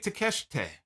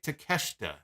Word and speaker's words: Takeshita: semi-final match we have hangman page against konosuke takeshite with CM Punk on commentary kanosuke takeshita there we go I'm butchered this time takeshita I made comments about